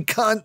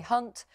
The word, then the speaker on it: Hunt: apologizes as she becomes the latest star to mispronounce the foreign secretary's name and call him Jerry Cunt live on air. Steve Ryan, you say that the man that you're backing, Jeremy Cunt, I'm so sorry, Jeremy Hunt, I've never said that before in my life.